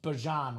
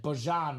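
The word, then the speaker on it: Bijan: So he did say he wants to be pronounced Bjan Robinson. Well, I don't know if he said he wants to be pronounced, but he said that's the cor correct pronunciation. Bjan Robinson.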